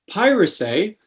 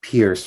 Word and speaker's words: Pierce: our expert is piracy and am i pronouncing that correctly it's actually pronounced pierce frank but thank you